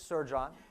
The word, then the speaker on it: Sercan: let's get into it my name is Sir John pronounced exactly like that haven't been in sales